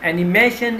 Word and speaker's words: animation: So animation is the stress on the second syllable, and it's a noun which means energy and excitement.